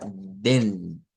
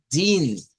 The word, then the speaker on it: den: Sería den, ¿ok? No, no sería así, sino que sería din, porque lleva una I. Si lo dijésemos sin acento, sí valdría decirlo como den, pero acentuado es din.